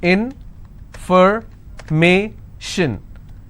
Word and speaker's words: information: more number of syllables information first i will break it in for me shin so where do i stress i will stress on me information if i have